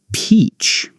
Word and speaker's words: peach: Now, let's try beach and peach. Beach with a B sound. Beach. Peach with a P sound. Peach. I love walking on the beach.